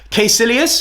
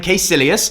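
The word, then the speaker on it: Kaecilius: in the MCU are weak for most part quilas yes that is how you pronounce his name Doctor Strange fans it's official now Marvel have said you pronounce this name quilas he is a good solid villain doesn't have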